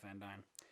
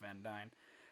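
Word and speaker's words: Van Duyne: uh from from beth van dyne and i'm fairly certain that's how you pronounce that her name is spelled d-u-y-n-e but everything that i've seen is said beth van dyne uh and so she's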